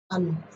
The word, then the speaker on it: अनु: अनु।